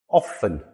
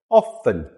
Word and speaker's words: often: This word here, often again, silent letter, silent t. There are many words in the English language that have silent letters on them. There is a video coming soon where I'll talk about many more of them, but today we're going to talk about this one. Often, two syllables. Often, not often.